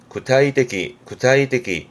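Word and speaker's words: 具体的: 발음은 구타이떼기.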